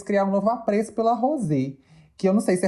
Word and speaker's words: Rosé: pelo que eu prestei, eu não prestei tanta atenção, mas eu entendi elas falando mais Rose, Rose, Mas quando ela fala. é porque a pronúncia em coreana seria Rosé, né?